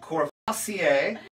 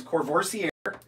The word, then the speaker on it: Courvoisier: So it's French, Courvoisier. I pronounce it Courvoisier. So if you're like me and you're in the liquor store and you're looking for the right one, it's Courvoisier, but the VSOP, which